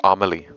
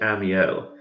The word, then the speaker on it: Amiel: Are you sure that's not supposed to be pronounced Amelie? That's how it looks. I am sure I am pronouncing it Amiel.